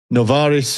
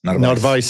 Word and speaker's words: Narvaez: But Novaris, is that how you pronounce it? Narvaez, sorry.